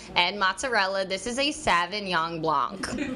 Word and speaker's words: Sauvignon Blanc: And it's Sauvignon Blanc 2016. And I've actually... The correct pronunciation. Yeah, tell me. Help me here. Sauvignon Blanc.